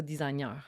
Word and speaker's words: designer: Puis tu sais là OK on parle de designer puis tu sais faut dire designer ça a l'air pas designer. Je me suis fait reprendre. Ouais il faut pas prononcer le G.